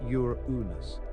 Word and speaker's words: Uranus: astronomers later named it Uranus pronounced Ur unus after the Greek god